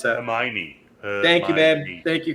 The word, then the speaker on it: Hermione: How do you pronounce that? Hermione.